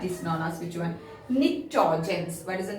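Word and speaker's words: pnictogens: Nitrogens. P is silent here.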